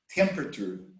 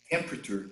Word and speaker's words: temperature: if the temperature itself temperature we don't say temperature temperature temperature yes there is a silent syllable in the middle temperature of the ocean